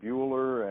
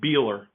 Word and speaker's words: Buehler: College's head coach Bueller and am i pronouncing your last name right actually pronounced Beeler okay and your